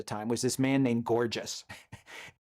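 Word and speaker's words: Gorgias: was this man named Gorgeous. Gorgius some people pronounce it but I prefer gorgeous because he was Gorgius was criticized by some for being a shallow if effective entertainer.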